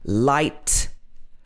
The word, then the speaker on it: light: word might end in ight which is pronounced like in light fight and sight all have a silent h l is another sound